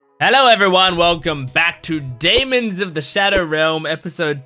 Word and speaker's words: Daemons: And I was like, oh, it's pronounced Daemons. And I've been spending the whole video saying Demons.